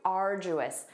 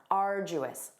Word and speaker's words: arduous: Let's review arduous. Notice that pronunciation. We have that J sound. Arduous.